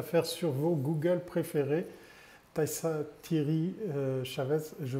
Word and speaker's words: Taïssa Thierry Chaves: Taissa Thierry Chavez, je prononce juste.